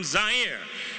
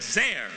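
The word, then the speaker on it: Zaire: coming to you live from zier some would pronounce it zir they're wrong it got big laughs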